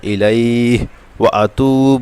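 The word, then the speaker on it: إليه: হয়ে যাবে এবার লাস্টেরটুকুবু ইলাইহতু ইলাইহি এখানে পেশের পরে জজমলা আমাদের হরফ এক আলিফ টান হবে এবং ইলাইহ এখানে জবরের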